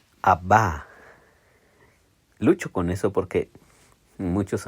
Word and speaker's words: Abba: Pero un día escuché una predicación del pastor Alex San Pedro y él dice Abba. Y me hizo sentido porque justamente el hebreo se pronuncia hacia adelante, casi las últimas, vamos a decir, ¿cómo se llaman en español?